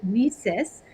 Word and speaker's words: WiCyS: go by your acronym whisis and we spell it w-i-c-y-s pronouncing it we sis like we sisters and that's exactly what